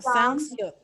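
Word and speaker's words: 시옷: Eso, Siot. Sankyo. Muy bien. La Siot va a ser una S, nada más que una S. Pero una S con mayor énfasis.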